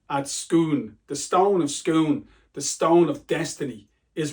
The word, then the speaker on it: Scone: accent experts out there if you're Scottish it's pronounced scon right so cuz there's a famous stone at schoon the stone of scoon the stone of Destiny